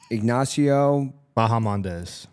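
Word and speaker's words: Ignacio Bahamondes: Ignacio Bahamandez.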